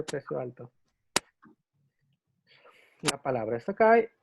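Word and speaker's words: 高: La palabra es Takai y su otra pronunciación es Kou.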